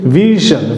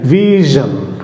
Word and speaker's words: vision: Correct উচ্চারণ হচ্ছে conclusion. দেন another word example হচ্ছে ভিশন, VISION ভিশন, ভিশন।